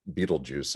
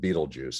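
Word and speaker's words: Betelgeuse: of the suns it's it's often called beetlejuice i don't know that that's actually the way the astronomers would pronounce it but but we call it beetlejuice and it's this massive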